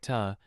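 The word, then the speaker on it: เธอ: Specifically for she and sounds more polite pronounced like tu similar to the with more emphasis.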